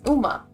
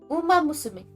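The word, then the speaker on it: Uma Musume: Oh, it's Uma. It's Uma. My bad. Uma Mus. It's Uma. My bad. Uma Musumi. Um Musim. My bad. I pronounced it wrong.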